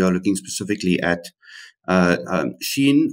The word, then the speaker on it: SHEIN: looking specifically at uh Shin or XI in the pronunciation was a big debate in the household but it looks like it is she in is actually the pronunciation of the company and then also to